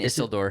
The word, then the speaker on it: Isildur: Isildur. Isildur. Say it like it's Spanish. Isildur.